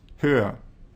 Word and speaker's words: höher: The resulting comparative adjective, meaning taller or higher in English, is pronounced höher.